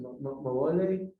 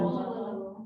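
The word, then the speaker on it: moʻolelo: How do you pronounce it? Moele? The Moele, the stories, the legends. Molelo.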